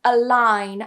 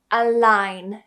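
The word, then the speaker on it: align: For example, in a line, I don't say a or anything like that, but a line.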